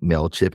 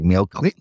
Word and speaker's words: MailChimp: And the ad was a woman pronouncing MailChimp incorrectly. It's like MailClimp.